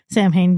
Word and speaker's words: Samhain: Yeah, this movie definitely tries to explore the Samhain, like Samhain of it all, depending on the pronunciation that you go by. Samhain being the correct, Samhain being the Halloween pronunciation of it.